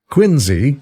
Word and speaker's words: Quincy: a biography of John quinsey Adams quinsey inly is how the family pronounced it the historian tells this